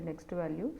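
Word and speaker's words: NEXTVAL: So we have current value and next value. So actually we pronounce that current value and the next value. So but the syntax will be CURVAL, cur val and next val.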